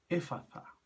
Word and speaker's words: Efata: Generalmente se pronuncia éfata en castellano, pero está escrito en griego con una T, pero es una T aspirada, es una TH, como en el inglés. Por eso debe pronunciarse así, éfata.